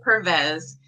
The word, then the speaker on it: Pervez: Ambreen how do you say your last name purpose yeah promise you that's okay amberyan Pervez is going to be teaching you about how